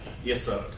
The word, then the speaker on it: Yesod: So, How do you pronounce it? Yesod. Yesod. Yes. Yeah, Yeah. emphasis on the second syllable, right?